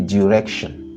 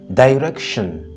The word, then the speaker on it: direction: dire direction tout comme tu peux dire direction direction c'est une prononciation qui est très souvent entendue en Angleterre disons au Royaume-Uni et direction est plus courant aux États-Unis donc direction ou direction c'est